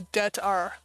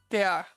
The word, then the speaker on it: det är: For some reason, I can't get past the det are. It's det är. Det är bra.